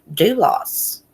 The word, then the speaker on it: Dulos: Jennifer do lost duelists I don't know how you say her name I tried to listen to focuses on one one call again and someone told me I pronounced it wrong again so I listened that 9-1-1 call and it sounds like he's pronouncing it do loss anyways they're wrapping up